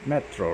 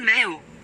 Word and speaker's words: métro: Sometimes the system here in Duolingo gets a little bit cuckoo. And Le métro. le metro, right? Elle met au. That's not the right way of reading it. So just go le metro.